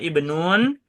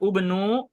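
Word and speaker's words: ابن: Bukan juga ubnu atau abnu, melainkan ibnu.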